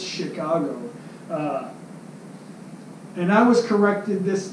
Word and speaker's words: Chicago: says Chicago Chicago Chicago it's not chikage it's Chicago it's not spelled with an SH it's spelled with a CA it's Chicago and I was corrected